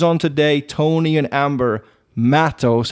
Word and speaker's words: Matos: not Matos, right? Tomato. Oh, okay. Yeah, we're going to go with Matos, though. That's the correct pronunciation.